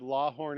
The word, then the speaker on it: Lawhon: young Elvis Presley attended La Horn elementary school so there's no R but you are supposed to pronounce the r like la horn from what I'm told so he played some